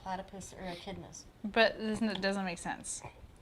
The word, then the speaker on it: echidna: Echidna, that's how you say it.